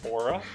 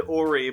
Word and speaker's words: aura: Do you know how to say the word aura? Shut up. That was from our previous recording where I said Ori, but we left it in.